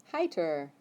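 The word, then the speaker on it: heiter: i t e r heer yeah the I second so you pronounce the I so other one heer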